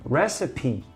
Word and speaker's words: recipe: you pronounce the e recipe okay you do pronounce the e here it's an exception and and this word